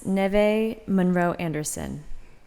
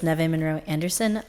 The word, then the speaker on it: Neve Monroe Anderson: Our next speaker is Neve Monroe Anderson. Apologize if I got your name wrong. You got it right. Hi, everyone. My name is Neve Monroe Anderson.